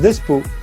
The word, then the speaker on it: Despeaux: Despo, comment ça se prononce ? Ça se prononce Despo.